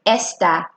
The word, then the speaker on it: está: Do you see that little tick on top of the A? That's the accent. Whenever we see that, let me remind you that we bring up that letter in the way we pronounce it. For instance, está, está. Listen how you're bringing up that A in your intonation.